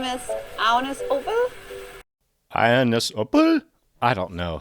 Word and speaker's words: Agnes Obel: I say Agnes Obel. That's not how to pronounce her name at all. It's pronounced like this. My name is Agnes Obel.